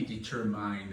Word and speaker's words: determined: n e d yeah it should be determined actually but we say determined okay try again determined determined the next one was l i b